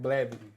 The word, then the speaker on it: Blavity: the um I think it's called Blavity or how they say it was Blvity. We went to that uh fest over here. You said it right. Blavity.